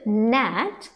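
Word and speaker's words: gnat: N went स together again ji will remain silent and will going to make a sound okay ए ट नेट एंड one more word is again one इज़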